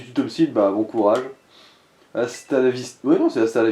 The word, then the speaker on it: hasta la vista: Ouais, elle a du mal le prononcer. En fait, c'est Astar la viste. Ouais, Ah. enfin, c'est peut-être ça, en fait. Ouais. Je savais que c'était juste hasta la vista, mais bon.